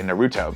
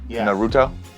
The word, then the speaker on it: Naruto: part you put the emphasis on the first syllable so like a lot of people for instance uh like you would say Naruto because in English we can cut from Latin